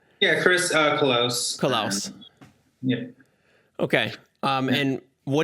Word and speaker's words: Colose: you say your last name yeah chris uh close collapse okay um and what do you you